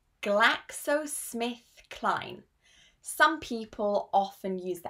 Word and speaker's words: GlaxoSmithKline: This is pronounced GlaxoSmithKline. GlaxoSmithKline.